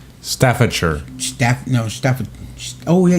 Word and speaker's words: Staffordshire: does in the Ukraine Trey t and American Stanford shine Staffordshire Steph no Steph oh yeah you're right Staffordshire